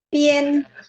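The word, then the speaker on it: 边: Pien. Nah, di sini pien. Pien nada 1 ya.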